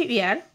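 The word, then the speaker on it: heir: এয়ার, এটার উচ্চারণটা হচ্ছে এয়ার, মানে হচ্ছে উত্তরাধিকারী।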